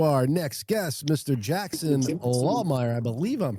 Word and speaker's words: Lahmeyer: Jackson Lawmire. I believe I'm pronouncing that correctly.